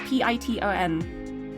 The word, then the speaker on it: piton: It said P-E-E, and then just wrote the word ton, like T-O-N. So it could be ton, it could be ton. It didn't really tell me how to pronounce the second part, but it's definitely P to start with.